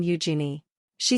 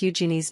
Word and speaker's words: Eugenie: when saying it as the emphasis is meant to be on the first syllable and while it may